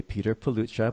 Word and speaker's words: Petr Pelucha: And today we are talking with, now I'm going to say Petr Pelucha, but I know that's the English pronunciation.